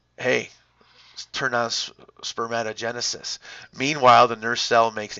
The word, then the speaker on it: spermatogenesis: the FSH leads to spermatogenesis and sperm e oh genesis sees first i don't know why they say it like that sperm e oh genesis is really part of spermatogenesis so i don't care